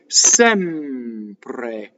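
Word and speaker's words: sempre: So again, open E is like head, sɛmpre. So, couple things. Notice that the E is written with the rounded edges. That's the open E. The final E is closed in the unstressed position. The stressed E in this case is open. Notice that also that the M phonates, doubles going into the P. Sɛmpre. Also, the R rolls. So R's that touch consonants roll.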